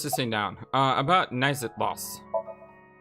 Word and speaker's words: Naixatloz: down i was just sitting down uh about nice at loss it's spelled n-a-i-x-a-t-l-o-z should probably write that down too